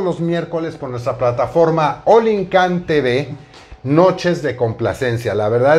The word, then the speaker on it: Olincan: Entonces, quizá visualmente de momento decimos es Olin, pero la pronunciación correcta es Olincan TV.